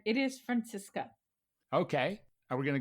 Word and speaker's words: Franziska: name um you actually said right it is Francisco okay are we going to go for that